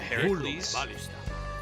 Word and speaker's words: Heracles: And we're gonna build ourselves to Heracles. The proper way to pronounce that.